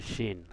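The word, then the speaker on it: شين: তার মানে কি একটা শিন। আর যদি নক্ত না থাকতো তাহলে কি থাকতো? সিন থাকতো, সিন। তো আমরা শিনটা উচ্চারণ করি শিন, শিন, সিন, শিন, সদ।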